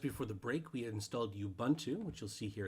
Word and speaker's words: Ubuntu: i apologize that is not the correct way to pronounce it it is ubuntu it just sounds really